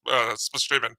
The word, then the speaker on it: Spaceman: Space Dr. Spaceman, but they pronounced Spashimon.